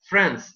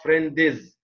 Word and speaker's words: friends: the word, a word like friends, it's friends, not friendiz. So don't pronounce the last letter before the S in order to avoid adding an E, which is not found actually.